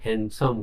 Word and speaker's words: handsome: को देखिबा हला 30 Which letter in is silent in the word handsome कुछ देखो D letter silent है handsome कोई था हला handsome